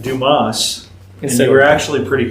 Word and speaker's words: Dumas: You know, it was actually Dumas, but we're Americans, so we pronounce it Not Dumas just like American. dumbasses.